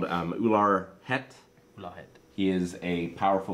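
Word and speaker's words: Ular Bhet: Ular Het. Ular. ULAR space BHET. Reminds me The of B is silent.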